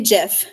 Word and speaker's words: GIF: and like it's Jeff the man who invented them calls it a Jeff so it's good enough for him it's been there for us so it's Jeff people like the peanut